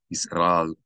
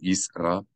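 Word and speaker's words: ישראל: You should not say Yisrael or Yisrael, but Yisrael. The Aleph makes a sound, an abrupt distinction between the syllables.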